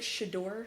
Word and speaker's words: Shedeur: So what I'm getting at is, should they have taken it out on, is it Shedeur?